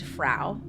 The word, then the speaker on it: Frau: So it began July in 1518 when a woman named Frau, I wrote rhymes with cow, but also reminds me of Frau from Austin Powers.